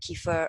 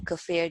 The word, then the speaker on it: kefir: foods your yogurt your kefir or kefir depending on how you pronounce it miso natto yeah sauerkraut